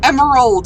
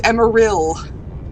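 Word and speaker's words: Emeril: any so don't just it's not emerald it's emma real i don't know if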